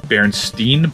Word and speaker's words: Berenstain: under the sea i know it's pronounced berenstein but it's spelled berenstain it's a good abgn